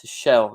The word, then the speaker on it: Tuchel: In German, Tuchel is pronounced to shell, is what Terence is saying.